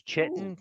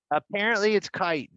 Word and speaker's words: chitin: the fancy word chitin which i thought was chittenden for years it's kite you just okay that's new